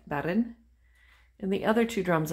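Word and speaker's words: bodhrán: new bedroom i discovered i was pronouncing the name of that drum incorrectly not bodrin but baron and the other two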